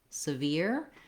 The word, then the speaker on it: severe: Notice that in severe, we have no R here in this first syllable, so it's a S rather than a SIR, as in surveyor. So if I'm looking at surveyor, 3 syllables with the A, surveyor, versus severe, no R in the first syllable and the ear diphthong at the end.